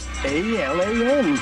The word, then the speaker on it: Alan: A-L-A-N. Alan, that's a name that rhymes with gallon.